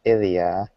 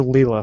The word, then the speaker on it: Ilia: are not pleased with Ilia yeah I I am notorious for mispronouncing characters names in games I called her Lea for the longest time no she doesn't have